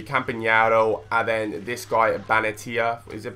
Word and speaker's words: Benatia: And then this guy, Benatia. Is it Benatia?